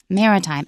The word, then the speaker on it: maritime: was a kid yeah and also mea time is first syllable remember this because it's easy to screw that up mea time Mari time and Legacy Legacy means